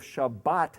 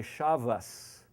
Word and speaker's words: Shabbat: actually as an S so you'll have instead of Shabbat they'll say Shabbos or best Beis meaning